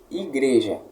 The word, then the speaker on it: igreja: Por exemplo, imagine em língua portuguesa aqui, igreja. Qual é a sílaba tônica de igreja? Gre. Igreja. Entendeu?